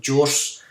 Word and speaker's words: Gource: So when I was doing a bit of research, I came across a program called gource, or gource, as I've heard some tutorials pronounce it.